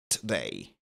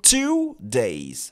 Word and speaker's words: today: peut être aussi prononcé today. Today are you doing today ? Fine. OK. Ou today, mais ne mettez pas trop l'accent sur le to, sinon ça va sonner comme two days.